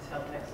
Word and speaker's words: Celtx: Celtics is changing that.